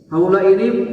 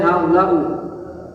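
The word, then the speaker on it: هؤلاءِ: Selamanya dibaca haula i enggak boleh haula u enggak boleh haula aa enggak boleh. Nah, jadi yang betul apa dibacanya? Haulai selamanya dibaca gitu.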